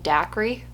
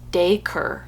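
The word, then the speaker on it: Dacre: a c r e I was saying Dai but it says it's pronounced daker I'm sorry I'm going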